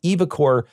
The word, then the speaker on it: eviCore: case evocore I'll be very careful when I pronounce it evocore get goes into Cahoots with the insurance company